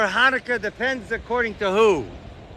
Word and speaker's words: Hanukkah: No, it's spelled Hanukkah or Hanukkah, depends according to who. It's actually spelled in Hebrew with a ches. the ches sound.